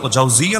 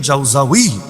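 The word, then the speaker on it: জাওজিয়া: পরিচয় তার দেওয়া লাগবে আমরা জাউজি জাউজিয়া নামে ব্যক্তি চিনলেও ইবনে কাইয়ুম জাউজাউই আবারো বলছি জাউজাউই নামে কাউকে তো চিনি না তিনি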